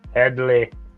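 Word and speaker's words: Hedley: of is uh theo blazing saddles eddie it's headley teddy it's headley i don't know if that's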